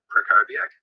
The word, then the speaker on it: Krakowiak: Hi, I'm Krakowiak. The W is pronounced as a V.